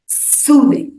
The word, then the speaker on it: soothing: अब सूदिंग का उच्चारण करते वक्त हमें पहले सिलेबल पर जोर या स्ट्रेस देना है, सूदिंग।